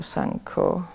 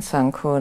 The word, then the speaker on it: Sangho: But usually I use Buddho, Dhammo, Sangho, the Buddha, the Dhamma, and the Sangha. Which is how they say it in Thai. Buddho, name of the Buddha, Dhammo, name of the Dhamma, and Sangho, the name of the Sangha.